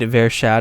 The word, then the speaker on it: Vershad: Read Vershad if that helps. Yeah, it's like very sad in a way. Vershad, very sad.